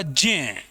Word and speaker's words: ज्ञ: इसका उच्चारण होगा जय, जबकि हम इसका उच्चारण क्या करते हैं? गलत करते हैं, गे।